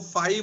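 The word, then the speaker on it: φ: Work function का ये symbol होता है ऐसे करके, इसको फाई बोलते हैं, FI ऐसे करके प्रोनाउंस करते हैं, फाई।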